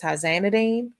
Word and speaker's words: tizanidine: Pronunciation of the generic is tizanidine.